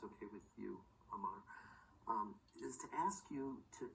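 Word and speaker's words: Amour: Amar. Amar. Yeah. So how do you spell that, Amar?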